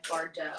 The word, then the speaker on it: Bardot: dress is made by bardot i think that's how you pronounce it it has a t at the end of it so it could be bar dot but i feel like it's bardo um this is one